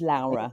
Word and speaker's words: Laura: gonna say sorry it's it's spelled Laura but it's pronounced Lara yes corre yes and